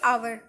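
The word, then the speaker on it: hour: होना चाहिए जैसे कि आवर तो आवर का स्पेलिंग एट से है लेकिन साउंड जो है वो एक वोवेल्स आगे हम एन यूज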